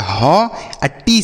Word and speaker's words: hot: तो अगर 2 कॉन्सोनेंट के बीच में ओ लिखा रहे तो ओ का उच्चारण अ हो जाता है, आ। जैसे एच से पढ़ेंगे ह, ओ का उच्चारण अ, तो हो गया ह। टी से ट, इसे पढ़ेंगे हॉट, HOT हॉट।